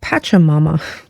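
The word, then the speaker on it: Pachamama: here on the table and this is called patcha Mama no lie that's how it's pronounced um this translates into Mother Earth she's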